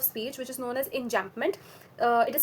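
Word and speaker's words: enjambment: Um over here we also come across a very neo figure of speech which is known as enjampment. Uh it is spelled as e n j a m b m e n t.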